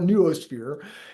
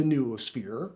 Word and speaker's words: noosphere: There's ways to pronounce that, but I call it noosphere.